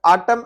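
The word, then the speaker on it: autumn: और यहाँ पे ये आटम है तो यहाँ पे आटम आप देखेंगे तो ये आटम की यहाँ पे एन साइलेंट है, जिसको हम सीजन होता है जिसको फॉल भी कहते हैं।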